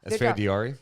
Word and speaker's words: Esfandiari: Esfandiari.